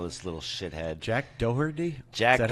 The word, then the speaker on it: Doherty: Jack Doherty?